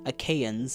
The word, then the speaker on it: Achaeans: Achaeans, I think, is technically the right pronunciation in English, at least.